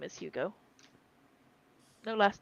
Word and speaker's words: Hugo: Hugo. Rhymes with Cujo.